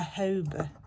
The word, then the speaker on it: jojoba: A jojoba, I don't know. That one beginning with a J, jojoba oil. I never know how to say it. You don't pronounce the J, I know that.